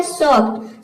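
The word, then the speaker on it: soft: इसमें एस का हो जाएगा स, ओ का हो जाएगा औ और एक का हो जाएगा आधा फ और टी का हो जाएगा ट। ये हो जाएगा सॉफ्ट।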